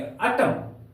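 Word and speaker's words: autumn: एन आया है तो इस एन का उच्चारण नहीं करेंगे हम लोग क्या पेंगे अटम नहीं बोलेंगे हम लोग बोलेंगे अटम अटम अटम का अर्थ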